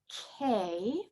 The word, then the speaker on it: Khei: So the seed sound is K, and it's spelled Khei. And when we do a seed sound, we do it in like 3 different parts. So you really enunciate.